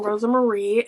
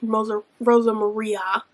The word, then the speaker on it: Rosa Maria: But I did find out that I was saying Luis's partner's name wrong. I was saying Rosa Marie, and it's Rosa Maria.